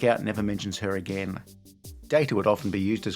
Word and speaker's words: Data: Data's name ended up being pronounced the way Patrick Stewart pronounced his name, a British pronunciation, which ended up cementing how a generation of people who'd seen the show would say that word.